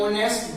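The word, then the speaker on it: honest: ऐसे लिखा ऑनेस्ट बॉय, ऑनेस्ट बॉय बोलेंगे एन ऑनेस्ट बॉय, एक ईमानदार लड़का, तो वह एन ऑनेस्ट बॉय।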